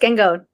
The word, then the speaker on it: Gangone: How do you say that? You had it first, Gangone. Okay, that's what I thought, but I wanted to make sure before I butchered it.